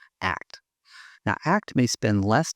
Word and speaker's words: ACT: Now let's view the same situation through an acceptance and commitment therapy lens, or pronounced ACT.